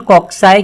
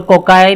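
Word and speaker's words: cocci: जैसे for example अगर spherical shape है, सर्कल, तो उसको कॉक्सस कहते हैं, प्लूरल कॉक्साई कहते हैं। अब इसको कॉकस और कोकाई भी कहते हैं, मतलब प्रोनाउंस करते हैं, कोकाई बोलो या कॉक्साई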